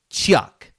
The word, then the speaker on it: Tsioque: So the game is called Chuck, and it's spelled TSIOQUE. Chuck.